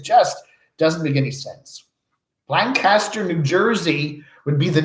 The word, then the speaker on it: Lancaster: Yeah, I said it wrong, right? It's Lancaster. I said, you're from Lancaster? He goes, no, Lancaster.